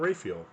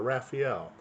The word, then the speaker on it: Raphael: pope just said uh it's like tomato or tomato whichever one doesn't really matter so we might hear